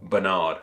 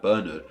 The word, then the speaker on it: Bernard: had on last week's name of Bernard, or Bernard as we established. Amarok said, I'm from the US. Honestly, I would have never guessed that Bernard would have been pronounced differently in the UK.